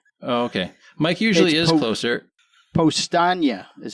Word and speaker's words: Powstanie: The po the post the the Poston. Poston. Mike was closer. Oh, okay. Mike usually is closer. Postagna is how you pronounce it.